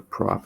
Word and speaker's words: prop: If it's three, it is prop, or prop, I should say. But you'll pronounce it prop, as in propane.